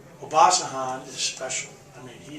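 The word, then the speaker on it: Obasohan: Obasahan. Obasahan is special.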